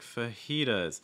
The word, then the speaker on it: fajitas: to fajitas really quick fajitas so we get the starting off with a schwa sound so it's not pha it's more f and then notice what's